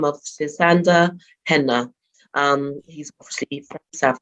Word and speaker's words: Sisanda: Have I pronounced your name correctly? That's right, yes. Sisanda. Yeah, good.